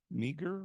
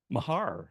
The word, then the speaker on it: Mahar: environmental monitoring uh and uh meager I'm not sure how to pronounce the last name for sure is here ah yes good good paper yeah could you correct your the pronunciation of your last name Mahar ah so sorry I was way off but congratulations welcome sa